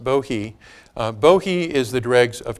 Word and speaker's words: Bohea: Bohea. Bohea. It's spelled Bohea. It's pronounced Bohea.